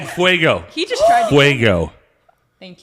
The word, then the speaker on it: fuego: Ask Jason to say fuego. He just tried. Fuego. Thank you. Did I say it right now? Yes. Now ask her to say the word. Frago.